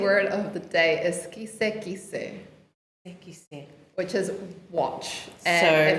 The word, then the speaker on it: kise kise: But the Niuean the Niuean word of the day is kise kise.